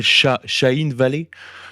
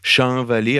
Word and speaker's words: Shahin Vallée: jamais été prononcé, s'appelle Shahin Vallée. Shahin Vallée, alors c'est écrit S-H-A-H-I-N, plus loin Vallée comme une vallée.